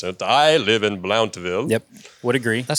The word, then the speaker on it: Blountville: for being a scholar I don't even think we enunciate the V too much here just BL BL more